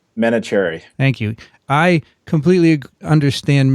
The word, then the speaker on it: Menachery: is a postdoctoral fellow in Ralph's lab, Menachery. Welcome. Did I pronounce it terribly? I've heard much worse. Menachery or Menachery? Is it Menachery, right? Menachery. Thank you. I completely understand mispronounced names, as you might imagine.